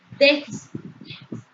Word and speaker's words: déficit: Arrojó un déficit. Déficit. Entonces lleva un acento prosódico, una mayor intensidad de pronunciación de palabra en la última, penúltima, antepenúltima. Es una palabra esdrújula.